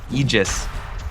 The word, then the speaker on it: Aegis: They're going to go ahead and grab this Aegis and Eegis.